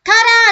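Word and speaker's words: 空: Kara thì nhớ nhá, kara trong trường số 2 này, chứ không ngoài cái đọc là sora là bầu trời thì còn có đọc là kara nữa, đúng không?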